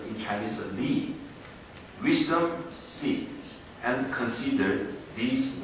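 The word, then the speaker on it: 礼: Likewise, Confucianism seeks the roots of everything from universal moral order called benevolence, pronounced Ren in Chinese, righteous, pronounced Yi, courtesy, pronounced in Chinese Li, wisdom, Zi, and considered these moral orders are immanent in human.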